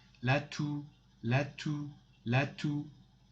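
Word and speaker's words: toux: lune the third one lat two x is not pronounced at the end la tu la tu latu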